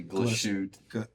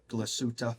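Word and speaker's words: Glashütte: I always say it wrong. I say glashute. Glasuta. Yeah, let's go with your version.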